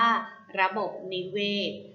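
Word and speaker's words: ระบบนิเวศ: ไป ค่ะ คำ ว่า ระบบ นิเวศน์ ระบบ นิเวศน์ อ่าน ว่า ระบบ นิเวศน์ ระบบ นิเวศน์ ประกอบ ไป ด้วย รอ เรือ สระ อะ บอย ไม้ บอย ไม้ นอ หนู สระ อิ สระ เอ วอแหวน ศาลา ค่ะ ระบบ นิเวศ นะ คะ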